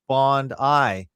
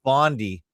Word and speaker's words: Bondi: Also, I should point out that we pronounce Bondi like Bondi, not Bondi, as I hear most people in North America America and or Canada pronounce it.